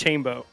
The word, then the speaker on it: Chambo: It's Chambo. It's Chambo? It's Chambo? Yeah, like rainbow.